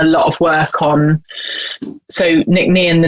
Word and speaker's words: Nc'Nean: tried to pronounce it earlier i think i butchered it so well that's why we shortened it to the nickname because it's like 13 letters and there's not